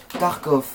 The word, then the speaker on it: tarkof: juste à l'envoyer une petite invitation je m'appelle tarkov du 64 alors tarkov ça s'écrit da r k o F du 64